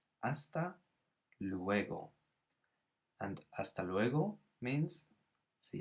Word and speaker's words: hasta luego: later you can say hasta luego so careful with that silent h like in holla we don't say the h the same here so it's hasta luego and hasta luego means